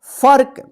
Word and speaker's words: फर्क: इसको क्या पढ़ेंगे फर्क इसको फर्क मत पढ़िए तो गलत हो जाएगा क्या पढ़ेंगे फर्क ह स स के